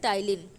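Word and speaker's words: ptyalin: mileage and also called टाइलिन P silent होता है आपका टाइलिन होता है तो जब भी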